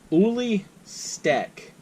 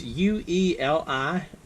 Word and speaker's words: Ueli Steck: This is the Wenger Titanium Ueli Steck, and I'm pretty sure I mispronounced his name. It's Ueli Steck, and this is the Ueli Steck Titanium Swiss Army knife.